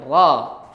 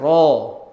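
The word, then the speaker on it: ر: Harusnya kan bunyinya fathah dan fathah itu bukan o. Jadi bunyinya ra. Ra terbuka bukan ro tapi ro. Dan dia bukan o.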